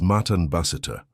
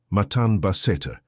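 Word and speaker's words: מתן בסתר: The Hebrew word that defines what is happening to you is Matan Baseter. Pronounce it with me in a low voice. Matan Baseter.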